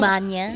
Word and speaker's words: magna: summa, di ba yung Manya? Yung manya cum laude naman talaga yung tamang pagbigkas, hindi Yes. magna, di ba?